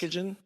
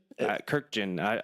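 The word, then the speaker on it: Kurkjian: Kirkjian? Kirkjian. I don't know. I think it's 3 syllables.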